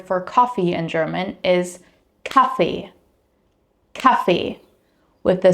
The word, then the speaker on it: Kaffee: Like for example here, the word for coffee in German is Kaffee, Kaffee, with the stress on the first syllable.